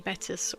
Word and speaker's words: Battis: and it assured me Battis was correct. Yes, that's correct. Walter Battis's surname is pronounced like bat, as in a flying bat or a cricket baseball bat, and is, which rhymes with piss.